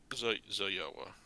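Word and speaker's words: Zoyowa: Zoyoa. Which panel are you looking at? Are you looking at the IPA guide? What? Oh. That letter J is pronounced yeah in the IPA guide.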